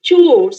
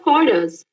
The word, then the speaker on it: chores: So now coming to roll number 825, it's chores. It's not chorus, right? Your topic was chores.